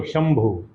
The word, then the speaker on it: शंभू: तो उसे बिंदी का उच्चारण कैसे करते हैं क्षमा bhusam भू आधा एम तो शंभू यानी कहलाती है शंभू